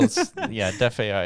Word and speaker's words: DeFAI: Yeah, well, Def AI is DEFAI. So decentralized financial artificial intelligence.